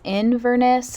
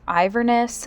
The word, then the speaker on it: Inverness: spelling here now but i believe it's inverness not iverness so i do apologize